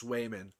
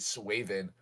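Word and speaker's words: Swayman: not not not not you pronounced it wrong it's swayan Oh swayan I thought you said suen yeah oh yeah y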